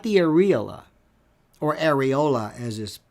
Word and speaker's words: areola: I suggest that those are not breasts, but those are nipples, not the areola or areola as is mispronounced, but that to me, I mean, if